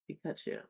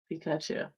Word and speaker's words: Pikachu: Pikachu. Why do you say it like that? I don't understand how I'm saying it. Say his name again. Pikachu.